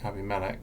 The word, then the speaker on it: Abimelech: not at all, but English people pronounce it Abimelech or Abimelech. I normally say Abimelech because Melech is king, and I can't remember what Abi means, but it's two separate parts.